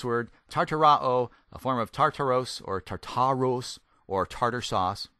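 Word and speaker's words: Τάρταρος: form of the word Tartarus and or not tartar sauce by the way tartaros or tartaro you can tell English is my native tongue I can't speak Greek worth beings but this is the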